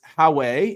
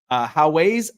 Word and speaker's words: Huawei: So they originally were using NVIDIA, and they had to switch to I don't know how to pronounce the name of the company, but it's Huawei, if I'm saying that right, Huawei AI.